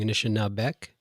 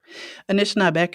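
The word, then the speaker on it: Anishinaabek: only your pronunciation because i always hear anishinabe but you're saying initial now beck anishinabek is like plural so you would say anishinaabe people or anishinabek okay great and now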